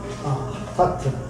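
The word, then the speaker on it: חַטָּאת: 이제 이게 점 찍혀 있으면 따트. 점 찍혀 있으면 그 쌍 발음이에요. 핫하트.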